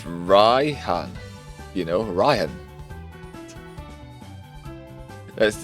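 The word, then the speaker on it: Raihan: It's actually spelled um R A I H A N. So it's Ryhan.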